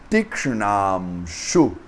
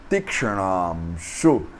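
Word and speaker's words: तीक्ष्णांशु: Então essa palavra essa palavra é formada por um T Holland, por um I longo, por um K Holland, por um Sh Holland, por um Hana Holland, por um A longo, por um M Holland, por um Sh Holland, por um U curto e por um Visarga. Então, Tikshnamshu, Tikshnamshu.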